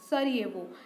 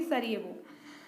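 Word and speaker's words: Sarajevo: Bosnia Herzegovina, सरिएवो। जे is silent hair. Bosnia Herzegovina, boss नहीं आए तो सारे लोग ये वो करने लगे, तो बॉस्निया एंड हर्जेगोविना की कैपिटल क्या हो जाएगी? सरिएवो।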